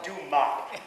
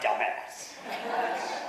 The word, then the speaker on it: Dumas: Oh, well, that's pronounced Dumas, not dumbass.